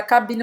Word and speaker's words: cabine: Não terminar com esse. Tem que terminar com N.